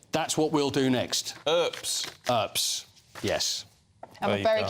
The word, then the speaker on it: Earps: When I met those girls in the girls' football team, they didn't know how to say her name, and they were calling her Herbs.